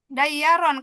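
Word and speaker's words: دَيَّارًا: Dayyaron. Kalau yang numpuk Bu dia bacanya izhar. Dayyaron.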